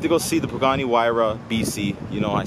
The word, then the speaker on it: Huayra: Guys, we went to go see the Pagani Huayra BC. You know, I say it properly now because I understand how to pronounce it.